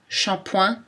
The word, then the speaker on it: shampoing: Dans les mots anglais, SH peut aussi correspondre au son ch, shampoing, short, t-shirt, ou SCH, schéma.